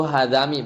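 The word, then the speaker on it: حذام: Tapi dibacanya kasrah, ya, dibacanya kasrah fi lughatil hijaziyin, di lughah atau dialeknya Hijaz, ya. Itu hadami bacanya.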